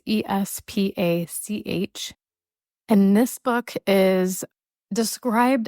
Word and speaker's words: Espach: It's Espach.